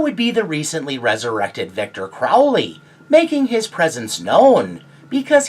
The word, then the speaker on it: Victor Crowley: That is the correct way to say the cursed creative Victor Crowley.